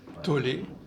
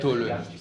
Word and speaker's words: Tolle: On met avec accent aigu, mais en allemand, c'est plus. Tolle. En allemand, ça serait Tolle.